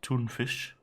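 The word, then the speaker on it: tonfisk: um i think actually oh in sweden is usually almost you isn't it like tuna fish is kind of spelt like t-o-n-f-i-s-k and i was very disappointed to hear that was just pronounced toonfish which is basically the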